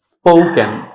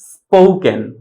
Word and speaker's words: spoken: এস এবং ফি এই দুইটা লেটার যদি একসাথে থাকে দ্যাট মিনস হচ্ছে ফি এর পূর্বে যদি এস থাকে তখন এটার উচ্চারণ হবে পি, তখন কিন্তু আমরা ফি বলবো না। সো সঠিক উচ্চারণ হবে স্পোকেন, স্পোকেন, নট স্পোকেন।